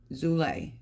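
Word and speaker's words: Zulay: as you use it zulle that's how you pronounce it z u l a y okay the espresso will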